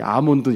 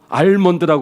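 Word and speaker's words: almond: 이 아몬드 열매거든요. 아몬드 트리. L은 발음하면 안 됩니다. 알몬드라고 그러는데 알몬드가 아니에요.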